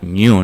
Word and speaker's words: GNU: la deimo Pues eso gn1 que pronunciando es como el animal New no es complicado Cómo